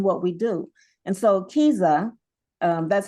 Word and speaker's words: KIZA: so literary in what we do and so Kiza um that's how you pronounce that Kiza Kea is actually the k word for story